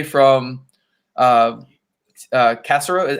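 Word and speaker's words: Caserio: yeah um i can say from uh uh cassero how do you say his name uh cesaro i call him i call him nick casserole that's really nick casario that's how you're supposed to say it that's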